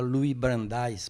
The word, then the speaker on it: Louis Brandeis: O poder de que falava Louis Brandeis, pronunciam assim, ele foi ministro da Suprema Corte norte-americana, morreu em 1943.